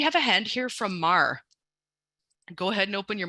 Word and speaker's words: Mar: I see we have a hand here from Mar go ahead and open your mic and please correct my pronunciation if I said your name wrong uh